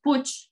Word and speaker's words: Puig: And the other last name is from my mother is from Barcelona, so it's Catalonian, and it's pronounced Puig. Oh my God, I got it wrong. Puig.